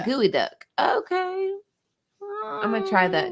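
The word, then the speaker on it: geoduck: expensive it is okay so it's pronounced gooey duck okay i'm gonna try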